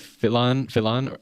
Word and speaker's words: Philon: His name looks like Philon, but think Pylon. Yeah. Philon, right? That's how you say his name.